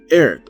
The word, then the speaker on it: Aerith: This is where we meet the flower girl again, Aerith or Eris, depending on how you want to pronounce it, as our next party member.